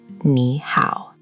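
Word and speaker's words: 你好: Close enough that I'm impressed, but the Mandarin ow is rounder than the English how. Round your lips a little more at the end. How. How. How. Perfect. Now here's the magic, put them together. Nee how. Nee how.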